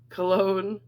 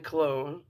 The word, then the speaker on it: Cologne: And this says Nijmegen, which is spelled Nijmegen, and then Cologne, like cologne.